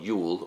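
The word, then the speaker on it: jul: And the tradition of Christmas, or Yule, and in Denmark you'll still write and pronounce it J-U-L, Yule, or Y-U-L, as you say the Vikings have said it.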